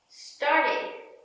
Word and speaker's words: started: There are 3 different pronunciations for ed. Pronunciation number 1, d, d. Played, t, t. Stopped, id, id. Started.